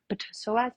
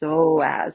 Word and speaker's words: psoas: They're like, psoas, psoas, psoas. No, it's just psoas.